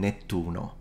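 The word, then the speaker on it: Nettuno: um but um so in Italian we would call him netuno netuno we lose the p and and put a Double T instead which happens all the time from Latin to Italian uh what happens in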